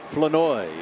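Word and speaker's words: Flournoy: Flanoy. It rhymes with annoy.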